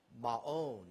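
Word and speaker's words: Maon: in the wilderness of ma own is actually the proper pronunciation looks like macon without the c there but you can see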